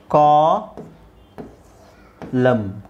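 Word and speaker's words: column: okay so ಇಲ್ಲಿ ನೋಡಿ ಸಾಮಾನ್ಯವಾಗಿ m ಜೊತೆಗೆ n ಒಟ್ಟಿಗೆ ಬಂದ್ರೆ m ಜೊತೆಗೆ n ಒಟ್ಟಿಗೆ ಬಂದಾಗ ಮಾತ್ರ ಅದು ಸೈಲೆಂಟ್ ಆಗುತ್ತೆ ಸೋ ಇಲ್ಲಿ ನೋಡಿ mn mn mn mn mn mn ಅದು ಕೊನೆಯಲ್ಲಿ ಕೊನೆಯಲ್ಲಿ ನಿಮಗೆ mn ಒಟ್ಟಿಗೆ ಬಂದಾಗ ಈ ನಾವು ಸಾಲ್ಮ್ n ಅನ್ನ ಸೈಲೆಂಟ್ ಮಾಡ್ತೀವಿ ಓಕೆ ಸೊ ಇದೇನಾಗುತ್ತೆ ಅವಾಗ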